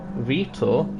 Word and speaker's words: Vitor: It could be one to favour the Toyotas, such as the likes of Vitor, as that is how his name's pronounced from what I've been told.